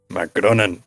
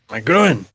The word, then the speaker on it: Magroan: Magronan. I have really to. Magronan. You put an extra N in there. Magroan.